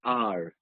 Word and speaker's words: hour: For example, I can say, we waited at the bus stop for an hour. Instead of saying 1 hour, I say for an hour. And because hour starts with a silent H, that is why I have used an.